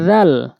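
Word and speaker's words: ذ: দাল দাল এরপরে হচ্ছে জাল জাল জাল জালটা হচ্ছে জিহ্বার আগা সামনে দুই দাঁতের আগাতে লাগাবেন ছার মত করে জালটা ছার মত করে উচ্চারণ করবেন জাল ছা দুইটা হরফ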